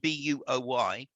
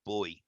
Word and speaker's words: buoy: Yeah, it's spelt the same, B-U-O-Y. It's spelt the same, but we in British English we pronounce it as boy.